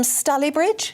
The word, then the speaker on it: Stalybridge: Valerie is watching from Stalybridge.